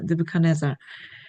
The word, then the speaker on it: 느부갓네살: 아, 이 발음이 어렵습니다. 느부갓네살입니다. 느부갓네살. 여러분 나중에 그 음원 한번 들어보시고 이제 확인을 잘 해주세요. 느부갓네살.